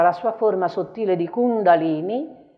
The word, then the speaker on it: Kundalini: abituati a dire la Kundalini dice Kundalini nalini nalini è la lingua che batte sopra l'arcata superiore dei denti altrimenti poi è un'altra